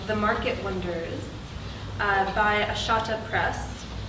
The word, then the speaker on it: Ahsahta: Market wonders uh by ashata press assata we've been we've been discussing how to say it like like carneada like carneada okay sort of like I make things too difficult assada assada press uh was a finalist